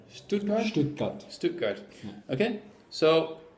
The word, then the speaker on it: Stuttgart: How do you say Stuttgart? Stuttgart?